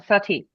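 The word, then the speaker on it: Satie: Those are his Seti. more famous. Yeah, Sati.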